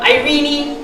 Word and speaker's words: Ireenie: You know, Ireenie, Houdini, you know, it rhymes.